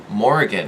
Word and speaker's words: Morrigan: I gotta keep smiiing Morgan but my senior Morrigan I'm so sorry I've been saying her name wrong Morgan you know goddess